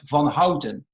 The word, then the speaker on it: van Houten: is Klaus I'm Dutch so I would say Alex von Hausen and are you so American that's exactly how you pronounce it that's right awesome awesome